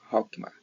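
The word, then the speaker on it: חכמה: a última da esquerda, é Het, que se pronuncia Hokmah.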